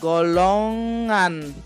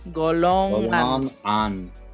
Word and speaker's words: golongan: Yes, so we have the ang sound again. Golongan. Golongan.